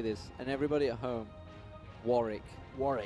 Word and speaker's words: Warwick: I want everybody to say this, and everybody at home, Warwick. Warwick. It's my town of birth. It's called Warwick. There's no... The W is silent, the second okay, one.